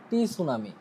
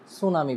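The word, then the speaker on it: tsunami: কিন্তু এটার বানানটা হচ্ছে টি সুনামি এখন আমি যদি এটাকে প্রনাউন্স করি যে টি সুনামি তাহলে আমার প্রনাউন্সিয়েশন হয় নাই আমাকে এটার প্রনাউন্স করতে হবে কি? সুনামি বলে।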